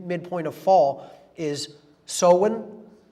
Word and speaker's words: Samhain: in the mid mid point of fall is so win pronounced so in it looks like samhain in english but it's pronounced so in uh in gaelic and that is halloween or